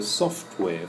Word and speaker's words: software: The strong syllable is soft. Computer software firm, okay, or computer software company.